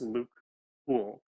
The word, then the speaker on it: Luc Houle: Um, so it's French, but it's actually just Luc Houle.